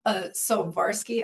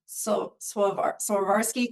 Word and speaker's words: Swarovski: This was from Sovarsky. How do you say that? Sovarsky. Swarovski crystal owl.